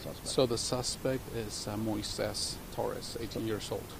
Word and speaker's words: Moises: So the suspect is Moises Torres, 18 years old. Can you spell that?